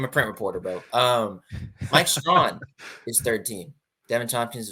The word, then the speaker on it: Strachan: I don't know how to pronounce his last name. Strawn, excuse me. Oh my goodness. I've only written it. I'm a print reporter, bro. Mike Strawn is 3rd team.